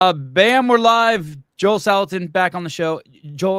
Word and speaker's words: Salatin: And so it's Salatin. If you say Salatin, you're accenting the wrong syllable.